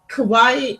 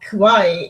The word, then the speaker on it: kawaii: kawaii, or it's like it's not kawaii, it's kawaii. You're like pronouncing it wrong, and it's like man, it sounds all the same to me. It's like no, no, no, it's totally different.